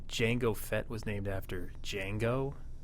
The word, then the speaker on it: Django: Do you think Jango Fett was named after Django? They're spelled D differently. is silent.